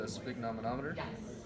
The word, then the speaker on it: sphygmomanometer: This is a sphygmomanometer.